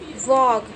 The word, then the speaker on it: walk: WALK, वॉक। बच्चों आप बोलोगे कि इसमें L लिखा हुआ है तो L कहाँ गया यहाँ पे, तो बच्चों यहाँ पे जो L जो है वो इसके अंदर साइलेंट है तो हम इसको वॉक बोलेंगे, वॉक मीन्स चलना।